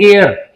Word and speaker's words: heir: वो उसको पर प्रोनाउंस करते हैं एयर, हेयर नहीं बोलते इसको, एयर।